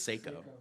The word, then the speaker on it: Seiko: seven up ceco watches how do you say that psycho seeker i think it's seiko seiko yeah i never knew let's